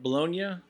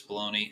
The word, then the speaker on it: Bologna: Bologna is how you say the region. It is called Bologna around the west of the world because nobody pronounces it correctly, but it is Bologna.